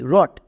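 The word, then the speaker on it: wrote: যেমন ডব আর ও টি ই রট ডব আর আই এন G ring ডব আর এ পি রাব এখানে কিন্তু একটাতেও ডবর উচ্চারণ হচ্ছে না কেন কারণ প্রত্যেকটিতে আর আছে তাই তাহলে আরেকটি এক্সাম্পল দেখো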